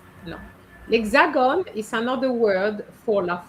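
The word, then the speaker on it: L'Hexagone: So the pronunciation is lexagon.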